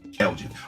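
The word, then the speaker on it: Alge: The reason why I brought up Chris Lord, or is that how you pronounce it? Elgin.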